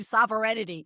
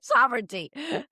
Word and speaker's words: sovereignty: It it was they absolutely dragged that guy and and I apologize for mispronouncing sovereignty in that video. Ju just want to point that out. I kept saying sovereignity sovereignty.